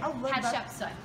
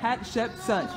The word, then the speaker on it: Hatshepsut: Hatshepsut. Hatshepsut. It's just like it's spelled up there. Hatshepsut.